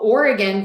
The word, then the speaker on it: Oregon: Oh, Oregon versus Oregon. Let me write that down. So the difference here, Minerva, is Oregon has 3 beats, Oregon, and Oregon has 2.